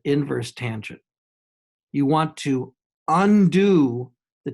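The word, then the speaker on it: tan⁻¹: And you tan inverse, tan backwards, tan, don't say tan to the -1. This is just an old notation, tan with a superscript -1. You pronounce it inverse tangent.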